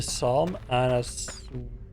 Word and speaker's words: Psalm: It's just pronounced Psalm? Okay. Oh, the P is silent, okay.